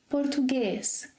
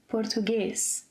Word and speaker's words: português: For example 'café' - open sound - É - 'café' 'português' – closed – 'português' Well, and if there are no written accents?